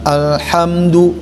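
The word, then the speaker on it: الحمد: Alhamdu. Nah. Tuh. Ham. Ya, itu kan mim tidak boleh ditahan.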